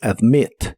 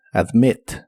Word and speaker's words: admit: presente de inglés es admit se pronuncia como se escribe solo que con la i corta admit admit y lo puedes